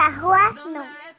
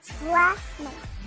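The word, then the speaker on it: Hwanwoong: U também e o G não se fala. E o W no meio também, tipo, não tem som, né? Então fica Hwanu, Hwanu.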